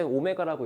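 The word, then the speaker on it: ω: 사용하면은 이거의 근이 자 W 읽을 때 오메가라고 읽어 오메가 쓸 때는를 각지에 쓰는게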